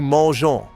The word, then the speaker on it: mangeons: Wait, notice mangeons has an E before ONS. This is a spelling rule. Verbs ending in GER add an E before ONS to keep the soft G sound.